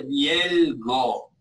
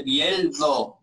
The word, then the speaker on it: bieldo: No se dice bielgo a esta cosa de tris, de cuatro dientes para. No se llama bielgo, se dice bieldo, ¿no?